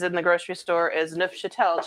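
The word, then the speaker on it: Neufchâtel: the grocery store is nuff chatel cheese which is the french everybody tries to call it new chop shuffle or something people can't pronounce it but it's french and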